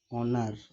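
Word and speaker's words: honour: इसको क्या बोलते हैं, हॉनर नहीं पढ़ेंगे इसको, अन ऑनर। ऑनर यहाँ जो एच है वो क्या है, साइलेंट है, इसलिए ओ अ ऑनर का साउंड आ रहा है, आ का साउंड आ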